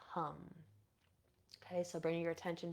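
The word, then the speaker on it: hm: sound here is hum it is spelled h m but pronounced hum okay so bringing your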